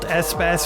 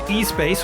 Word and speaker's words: Espace: The Renault Espass minivan. Previously, I was pronouncing this Espace, which I prefer, but what are you going to do?